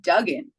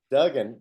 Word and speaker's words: Duggan: one of those things when you have two G's it's Dugen Dugen great yeah well my